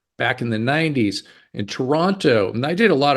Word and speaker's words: Toronto: Canadian and I appreciate the fact that you pronounced Toronto the way you did not say Toronto you said toron just like everybody else does